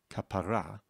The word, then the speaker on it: kapara: In religious Hebrew, you would put the emphasis on the final syllable, kapara. And a kapara is a redemption, is a way of getting rid of sins by taking a chicken and effectively waving it above your head. But if you put the emphasis on the second syllable, then it's a word of endearment. It's a term of endearment which is used in particular by Mizrahim.